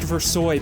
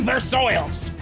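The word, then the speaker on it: Versailles: It's pronounced versoy, Pam. Well, I say versils.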